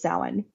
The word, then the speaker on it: Samhain: And yeah, so the actual original name for the holiday was Samhain, spelled Samhain for all of us who mispronounced it for however many years.